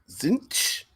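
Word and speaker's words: Tzeentch: Pronounce it Zinch.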